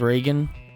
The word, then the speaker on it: Regen: In the German language, it is indeed pronounced as Reagan, but Regen is funny, and now that's what her name is.